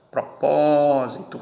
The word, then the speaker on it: propósito: Propósito, aqui está a tonicidade. Última, penúltima, antepenúltima. Proparoxítona, por isso foi acentuada.